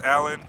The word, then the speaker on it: Alleyne: I want to shout out to Paris Allen. Y'all can look him up on Paris Allen Art on Facebook, and that's Allen spelled like ALLEYNE. Yeah, Paris spelled just like Paris, France, and Allen's ALLEYNE Art.